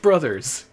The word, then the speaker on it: Bros.: It's Bros. Pronounced Brothers. Millennials. That's right. I'm calling you out. All you speedrunners who call it Mario Bros., that's incorrect.